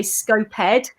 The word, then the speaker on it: SCoPEd: hell knows where they go but also the pronunciation of it some people say scope head some people say scoped we're going to go for scope peter and